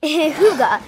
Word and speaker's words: hygge: should tell everyone what hooga is first good idea darling hyuga pronounced two guts is spelled h-y-g-g-e but pronounced h-o-o-g-a hygge is a danish